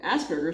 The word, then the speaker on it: Asperger: Asperers is pronounced with a hard G to rhyme with burger. Okay. Often people with Asperger use talk using words that are very grown up and advanced for their age.